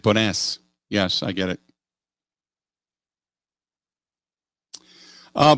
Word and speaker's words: Bones: it was uh ricky bones but he's pretty it's pronounced bonus it's like bonus yes i get it